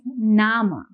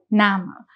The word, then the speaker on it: Name: If you see the spelling does look similar to what we have in English but the pronunciation here is going to be different. In Deuts we pronounce this as nama.